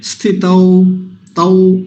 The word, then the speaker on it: स्थितौ: औ ही बोलना चाहिए तो यहां भी क्या बोलेंगे स्थित तौ औ स्थित लेकिन मुख्य बात जो इस शब्द में मैं बताना चाहता हूं वह है यह वाला दंती सकार स जो है यह गलत ना हो जाए दूसरी पंक्ति का प्रथम